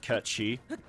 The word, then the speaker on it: Cait Sith: that that specific, like I guess type of pronunciation for you know, Cait Sith Ketchy.